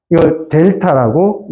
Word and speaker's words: 델타: 이렇게 표현합니다 봤니 팔 아닙니다 이렇게 표현합니다 이렇게 델타라고 읽습니다 델타 플러스 델타 마이너스 이렇게 표현을 해야